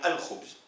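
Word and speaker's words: الخبز: Est-ce que je dis, et là ça va être simple puisque vous l'utilisez régulièrement, est-ce que je dis al-khubz ou al-khubz? Forcément al-khubz. Je prononce l'article.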